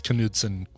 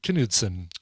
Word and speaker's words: Knutson: It's probably just pronounced. No, I think you do pronounce Knutson. I knew a Knutson growing up.